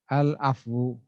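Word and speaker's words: العفو: lam main fak Wow tetapi cara bacanya yang berbeda kalau itu sifat memaafkan kami itu sifat Maafkan maka cara bacanya adalah allwood all of u u rezeki ya saya Tampilkan di papan tulis kalau itu sifat maka cara membacanya adalah al-afwu seperti ini nih memaafkan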